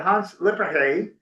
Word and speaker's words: Hans Lippershey: Now, Sal, to your point, it is often said that Hans Lippershey is the correct way to pronounce it, a Dutch optician, or